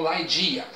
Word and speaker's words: Ligeia: No nome original o pessoal pronuncia como Laidia.